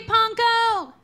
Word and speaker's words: Pankow: Rhymes with bronco, simple as can be, see Panko!